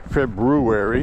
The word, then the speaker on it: February: February, if you want to say it properly.